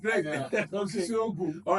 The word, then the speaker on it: Osisiogu: Osisiogu. All right, so I'm corrected now. It's Osisiogu.